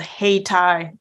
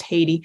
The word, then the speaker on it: Hayti: in Southeastern Missouri called Hey Thai Missouri I know when you look at it looks like Haiti it is not pronounced Haiti okay pronounced hey it's